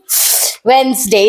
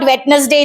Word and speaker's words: Wednesday: W Wednesday w-e-d-n-e-s-d-a right Wednesday it's not wetness day it's Wednesday Wednesday not Wednesday okay